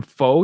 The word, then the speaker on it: pho: Have you ever tried pho? And I know it looks like pho. You do pronounce it pho.